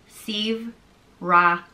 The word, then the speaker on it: Saebhreathach: The next name is Saebhreathach, and it means noble judge. Saer means noble, and Breathach means judge, so noble judge, Saebhreathach. And is pronounced Saebhreathach.